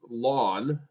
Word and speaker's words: ln: about 2.7 okay and it is pronounced lon of X so you'll see log